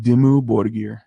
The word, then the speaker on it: Dimmu Borgir: pronounce the band's name dimmu borgir D mu borgir he immu space d OB o r de ir d IM mu yeah space space bo r bo r GI r GI o so like